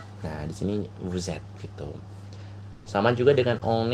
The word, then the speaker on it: vous êtes: Jika ada di akhir sebuah kata, teman-teman, itu ada huruf S, lalu di kata selanjutnya atau kata sebelah atau ada huruf sebelahnya nih yang dempet ini, dia hurufnya A, I, U, E, O. Nah, biasanya S itu bacanya Z.